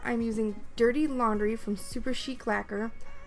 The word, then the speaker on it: Super Chic Lacquer: using dirty laundry from super chic lacquer I always want to call this super chick lacquer but that's not how it's pronounced this is a gorgeous